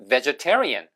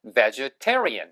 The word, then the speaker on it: vegetarian: 이 발음이 테이블이 아니라 vegetable, 채소, 야채란 뜻이고 이렇게 채소를 먹는 사람들이라고 할 때는 vegetarian 이렇게 발음하시면 돼요. 아시겠죠? 그래서 vegetarian, T 액센트 있게 발음하시면 됩니다.